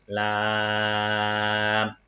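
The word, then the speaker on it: لام: Donc, par exemple, ici, Lam contient une syllabe longue. On va dire Lam.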